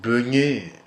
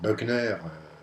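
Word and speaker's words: Boegner: le pasteur Martin Bogner, une tradition franco-française dit plutôt souvent Beugnet, pasteur Beugnet, histoire de franciser son nom. Donc Bogner, c'est la prononciation originelle et à laquelle je demeurerai fidèle.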